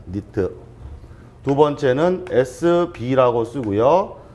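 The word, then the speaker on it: nit: 두 가지가 있습니다 하나는 nt 라고 쓰고 읽을 때 니트 라고 합니다 니트 두번째는 sb 라고스 구역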